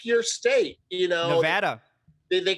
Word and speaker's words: Nevada: call it nevada but it's nevada come on i mean that that should be the pronunciation and you can't say that you can't say nevada they can't they don't it's a faux pas to pronounce the name properly it's a spanish word yes i mean it's